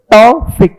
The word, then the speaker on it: Thofik: Actually I'm telling you the real pronunciation of my name is two syllables. Thofik. Okay va? Thofik is my name. It is just a toffee without K.